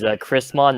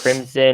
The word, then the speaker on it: Chrismon: Hi, my name is Chrismon, not Crimson or Christmas or anything.